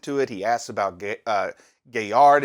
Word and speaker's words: Gaillard: He asks about Gaillard is how I pronounce it, or Galliard, Porco.